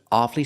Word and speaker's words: awfully: That's right, the doctor was awfully sorry to give him the bad news. Or when I say awfully hard, we hear 2 syllables.